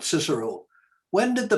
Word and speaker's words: Cicero: remember taking latin and everyone joking that we couldn't call cicero uh cicero we had to call him kikero and uh certainly you're